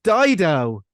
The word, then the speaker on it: Dido: this game entails um it just rhymes with Fido based on my clue